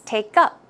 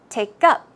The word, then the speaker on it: take up: So, the stress should go on the second syllable. It's take up, take up, took up, took up.